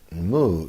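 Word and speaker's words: 無: those NOS are and the romanized syllable is muu Mu and moo is the way that we vocalize it's our syllable for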